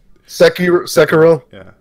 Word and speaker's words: Sekiro: Like I didn't know how to pronounce Sekiro. I still don't until you said it. Sekiro.